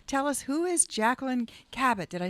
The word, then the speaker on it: Kabat: yourself tell us tell us who is Jacqueline kabat did I say that right kabat K you